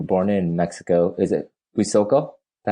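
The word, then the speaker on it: Huitzuco: So when you were a kid, and you were born in Mexico, is it Huizoco? Is that how you say it? And Huizuco, yeah, Huizuco. That's correct, Huizuco.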